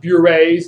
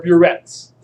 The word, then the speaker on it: burette: These are not burets, they're burettes. And You don't use crucible thongs, you use crucible tongs.